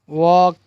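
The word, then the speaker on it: walk: टॉक, काफ, काम, चॉक, वॉक, Fock, half, Simon. क्या है, सैमन, सैमन और पाम। तो यहाँ पर जो एल की आवाज़ जो है वो साइलेंट है।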